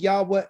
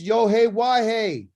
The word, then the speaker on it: Yahweh: It's Yohe-Wahe, which is Yahweh.